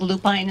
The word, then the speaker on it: lupine: And by the way, there were always lupins in my family, so that's the pronunciation I've used. I think lupine is also correct.